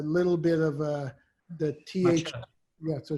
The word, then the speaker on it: Mathieu: Mathieu. It's almost like a sneeze. If you're the Canadians who watch hockey, and it's a common first name, Mathieu. It's just a little bit of the TH. Mathieu.